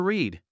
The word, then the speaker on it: read: Like, I like to read. But in the past tense, the spelling stays exactly the same, but the pronunciation changes. We say read. It sounds just like the color red.